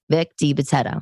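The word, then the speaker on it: DiBitetto: what kind of Italian am I that I mispronounced this guy's name Vic de Betto Vic de Betto not de Betto I don't know I an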